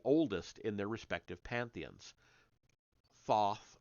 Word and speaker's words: Thoth: Thoth or toth I think people have sometimes said I'm going to say Thoth because that's how it's spelled in the case of